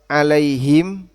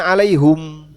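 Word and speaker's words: عليهم: Bahasa orang Hijaz itu bacanya alaihum sebagaimana mereka baca alaihu. Orang Hijaz. Artinya dalam bahasa Arab ini juga ditoleransi. Dalam salah satu cara baca orang Hijaz bacanya alaihum. Walaupun umumnya alaihim.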